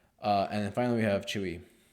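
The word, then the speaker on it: Tzuyu: Technically, you spell out Chewy's name as Tz U, but because she's Mandarin, she pronounces as Chewy. Well, I'm I'm probably mispronouncing how she says it, but Chewy, it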